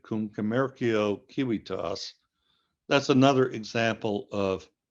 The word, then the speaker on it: commercio: in Latin, Crescit cum commercio civitas, all those C's in a row, which in ancient Latin were all pronounced with a K sound, Crescit cum commercio civitas, that's another example of alliteration.